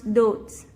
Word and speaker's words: doubts: Example, when B meets T in a word doubts, D-O-B-T-S, we shouldn't pronounce the B. We should pronounce doubts.